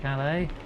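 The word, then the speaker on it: Calais: You going to Calala? Am I saying that right, Gwen? Pretty sure the S is silent.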